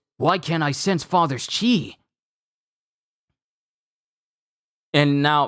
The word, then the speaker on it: Ki: and then Gohan goes, Why can't I sense Father's chi? and now, mind you, it's called Ki, K-I, but it's Chi. So either it's Ki or it's Chi. I'll call it Chi, how it's pronounced here.